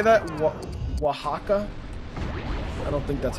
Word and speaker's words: Oaxaca: Oaxaca?